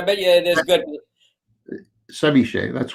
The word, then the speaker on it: ceviche: Ceviche, that's correct.